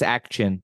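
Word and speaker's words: Ak-Chin: And the show that you picked, I might need your help with the pronunciation. It's October 22nd, 2021 at the Action. I think it's Action.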